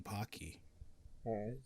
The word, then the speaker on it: Pocky: it pokey i said it wrong no it's pocky i say pog no no i say okay that's right i say there's some people that pronounce it as pokey you're wrong those people are wrong and it's